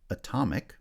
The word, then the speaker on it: atomic: You should have noticed that atom has stress on the first syllable, but when I add the IC ending, the ic ending that makes an adjective atomic, right, stress has shifted to the second syllable.